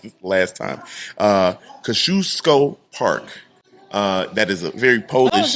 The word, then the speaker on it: Kosciuszko Park: I'm sorry for calling it Kazukian. Did someone correct you? No. I looked it up. Oh, you looked up the phonetics. Yeah, No, there's no N.